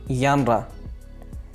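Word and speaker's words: genre: ये जेनर लफ्ज़ नहीं है, ये जेनर नहीं है, बल्कि यानरा।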